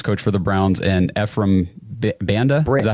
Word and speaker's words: Ephraim Banda: So I know, first of all, we've done Jason Tarver, the linebackers coach for the Browns, and Ephraim Banda.